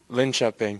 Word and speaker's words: Linköping: Linköping. I butchered that a few times.